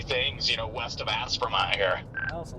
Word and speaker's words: Aspermont: I'm one click out of the all subs and aspermont. Okay. So, Aspermont has three syllables. It's as permont. Aspermont.